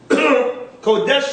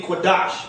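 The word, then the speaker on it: Qadash: Now, Kodesh is supposed to be Kodash in the ancient. Right. They got K-A-D-E-S-H, but it's supposed to be Q-A-D-A-S-H.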